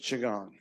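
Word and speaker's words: qigong: q i g o n g but it's pronounced chagong thank you I never would have guessed someone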